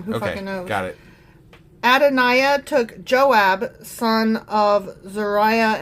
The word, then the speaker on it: Adonijah: Adonijah I keep saying his name wrong because the J is a Y. Adoniah. That's probably what it is.